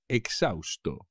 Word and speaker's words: exhausto: que no puedo más exhausto exhausto como siempre por supuesto la h no se pronuncia tras correr 420 metros estoy exhausto muy cansado exhausto exótico